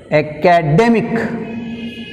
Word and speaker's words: academic: your stress mark ending in the second sympathetic academic academic academic day to make one second syllable from the end of the day so